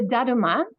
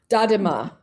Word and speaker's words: Daruma: asking how do you spell it? The Uh, the the little figure with the eyes. oh, the Daruma. Dadima.